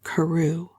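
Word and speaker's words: Crewe: difference in the name Madame Pascal pronounced it as if it were Karu instead of crew but that might merely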